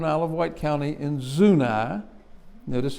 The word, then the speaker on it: Zuni: of wight county in zunai notice how i pronounce it it's not zuni but it's zuna uh there's not much